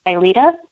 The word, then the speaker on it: Aelita: say your name and I'm gonna say it wrong. Aelita? Yep, you said it.